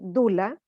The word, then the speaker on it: Doula: de mi faceta, que yo soy Dula, se escribe Doula, que somos guardianas del nacimiento.